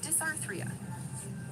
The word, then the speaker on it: dysarthria: It's pronounced dysarthria.